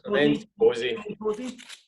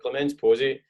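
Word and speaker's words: Clémence Poésy: So it's Clemence Posey. I didn't want to be rude and mispronounce it, but Clemence Posey.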